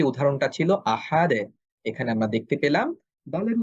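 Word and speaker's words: أحد: ফলশ্রুতিতে আমরা কলকলা করব আহাদে, আহাদে। এখন আমি যদি বলি আহাদো, তাহলে কিন্তু এটা মোটা হচ্ছে এবং এটা একটা ভুল উচ্চারণ হবে, কারণ দাল হরফটা পাতলা।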